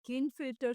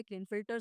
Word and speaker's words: Klinefelter: ये आपका 47 आ रहा है, जहाँ पर ये बेसिकली क्लिनफिल्टर सिंड्रोम कहलाता है।